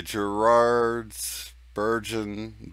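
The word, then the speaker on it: Geraardsbergen: Let's see, Gerard's Bergen Belgie. I dare you to pronounce that, Shane.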